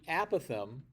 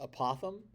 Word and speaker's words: apothem: The apothem, which I've also heard pronounced apothem, and I'm fine with either, although I think apothem is the correct way to pronounce it.